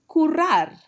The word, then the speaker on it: currar: In Spain, they say currar. Remember to double that R.